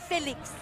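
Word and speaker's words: Fénix: Raleigh North Carolina but Phoenix starting with the F and a little Accent on the E phelix phelix throw a little yeah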